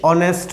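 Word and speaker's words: honest: अब ये है दश ऑनेस्ट बॉय अब इसमें भी आगे साइलेंट है तो हम इसको क्या पढ़ेंगे जी शुरू होगा ऑन नेक्स्ट अलग से शुरू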